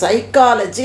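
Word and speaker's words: psychology: இப்போ சைக்காலஜி அப்படின்னு எழுதுனா பி போட்டு தானே எழுதுவோம், ஆனால் அந்த பீங்கிறத உச்சரிக்க மாட்டோம்.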